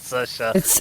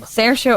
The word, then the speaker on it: Saoirse: I have in fact seen this word written down many times, and I have never known that it was pronounced Saoirse or variations thereupon. Yeah, Saoirse or Saoirse.